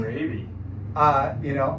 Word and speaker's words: Rabe: Rabe. I asked before the show just to make sure I was pronouncing it right. And it's just like the disease, which is why he